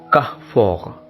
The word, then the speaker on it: Carrefour: But it is a French chain, and when we pronounce it in its original language, it becomes Carrefour. Carrefour. First R is pronounced as her, and the second and last R is pronounced as ra.